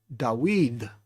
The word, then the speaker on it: Dawid: Even the name we just talked about, Dawid, the emphasis is on weed, but it's not Yahuwah, it's Yahuwah.